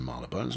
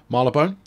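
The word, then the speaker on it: Marylebone: quite a nice station marlon burns was it's not it's uh marla bone did you just say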